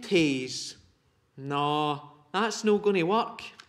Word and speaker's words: taes: In English, it's toes and nose. Aye, that's right. Toes and nose. But in Scots, toes is Taes and nose is neb. And neb doesn't rhyme with Taes. Neb and Taes.